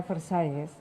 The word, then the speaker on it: Versailles: mengeluarkan Perjanjian Versailles ya atau Versailles ya katanya bacanya Versailles itu perjanjian itu mencegah negara-negara untuk mengekspansi wilayah